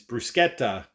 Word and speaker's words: bruschetta: it correctly all the Italians are screaming it's bruschetta pronounce it correctly okay so what you have in